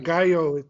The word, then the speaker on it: Gallo: Gallo, the LL is like Fresnillo.